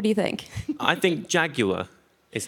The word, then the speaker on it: Jaguar: It still looks like a Jaguar, but has all the benefits of being electric.